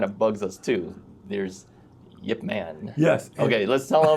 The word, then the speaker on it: Yip Man: is Yip Man and why do we call him Yip Man? Well, Yip Man, Grandmaster of Wing Chun, Hong Kong many years ago, which is spelled Y-I-P-M-A-N. For some reason, it changed when the movie came out. They started making all these movies, and they printed it out as Ip Man.